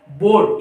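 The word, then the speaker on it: board: लेकिन ये क्या है, बोर्ड। इसमें जो आर है उसको हम लोग मैंने पहले ही आप लोगों को बताया था कि जो आर है इसका प्रोनाउंसिएशन हम लोग बोलते वक्त नहीं करते हैं।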